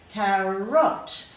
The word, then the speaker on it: carrot: So if you were reading these words, you would know to make this first vowel sound short, because you can see there's a double consonant after it, which forces this to become a closed syllable. So you've got to really make sure that that vowel is short.